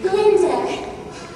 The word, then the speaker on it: Glinda: Glinda. The G is silent.